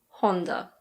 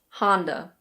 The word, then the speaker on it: Honda: I don't speak any Japanese, so I don't know how the Japanese say it, but in British English we say Honda. Honda. In American English it's Honda. Honda.